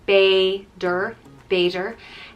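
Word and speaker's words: b'fhéidir: next up is beijer which means maybe it's pronounced bae der vader and it will be used like uh you're going for a drink tonight beiger or we get takeout later vader next is one that i use every day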